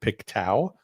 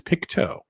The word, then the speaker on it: Pictou: I think I was pronouncing it Piktau. Uh, but it is Picto County.